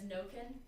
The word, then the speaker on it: Nokin: Her last name is Nokin. Nobody. No. Nobody. No fam. No, you said no kin? No kin. No kin, yeah. And that would be exactly, and it's spelled like one word.